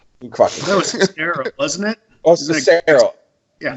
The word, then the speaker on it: Sestero: Greg Sestro. That was Sestero, wasn't it?